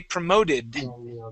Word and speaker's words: promoted: T sound promote okay we add an ed at the end of it we do pronounce that ID say okay we say promoted promoted promoted promoted okay